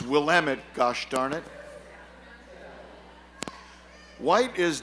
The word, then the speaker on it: Willamette: I'll read this because I was corrected with my pronunciation and I will do it correctly this time located on the corner of 16th and Willamette Oh will lament I would have said